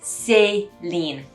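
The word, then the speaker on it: Céline: sound so chloe chloe or it becomes say lean not lean say because you've got that a sound say number four cristiano louboutin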